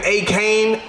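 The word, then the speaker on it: Achane: boy Bijan Robinson on this thing, but Devin A. Kane, that's how you said you pronounce it, but man, they should call you A-Train.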